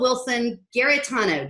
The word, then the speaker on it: Wilson-Giarratano: And today I am super, super excited to have Wilson-Giarratano, did I pronounce that correctly?